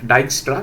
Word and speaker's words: Dijkstra: Uh so it's pronounced as dystra d i j k uh d i j k s t r a and uh this is called as flo.